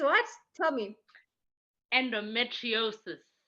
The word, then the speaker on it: endometriosis: I asked her to pronounce it for me earlier because I was like, Right. it's what? Tell me. Endometriosis. Endometriosis.